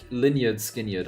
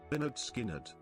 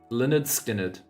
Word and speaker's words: Lynyrd Skynyrd: Never seen anyone pronounce it like that. What is Lineage Skinyard? I'm like, when I see that word, I think of Linners. Is there like a way for me to use Google to like... I'm gonna go on Google Translate and see how they pronounce it. Well, let me TTS this actually. Let me go on TTS. Leonard Skinnard. Leonard Skinnard.